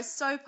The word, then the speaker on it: Sopot: up M yes yes no soot so it's a little bit of a longer o soot soart just like you say in New Zealand really exactly where is soot um so it's part